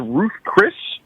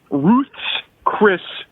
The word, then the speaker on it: Ruth's Chris: I believe you said it was Ruth Chris, but it's actually Ruth's Chris Steakhouse. It's the possessive, as if it's Ruth's Chris, not James Chris. It's Ruth's Chris Steakhouse.